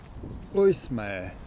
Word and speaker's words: Õismäe: these ones are impressive so oy may I think is the correct pronunciation of this subdistrict very yellow so it